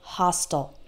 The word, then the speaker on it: hostile: All of those words end in I-L-E, and I, as an American English speaker, pronounce the I-L-E like ul. Fertile, fragile, missile, versatile, hostile.